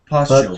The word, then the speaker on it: partial: So you can say sh there. Partial.